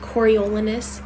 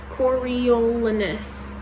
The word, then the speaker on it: Coriolanus: Like, that's just Coriolanus. Coriolanus. That's 5 fucking syllables for a name.